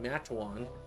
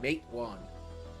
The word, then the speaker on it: Matewan: Like I have to say it's pronounced like this, not like that, because I was saying Matawan, which is the way people were saying it. It was saying Matewan.